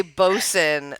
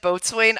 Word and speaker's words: boatswain: I tried to say boson like the first time you said boatswain I tried to use boson in a sentence but